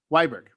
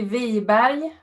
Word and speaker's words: Weiberg: Weiberg. We'll say. In Swedish, it would be Wiberg, but Weiberg would probably work.